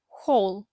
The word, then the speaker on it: whole: вимовляється What проте перед буква w не вимовляється а H вимовляємо як х х whole ще декілька буквосполучень тепер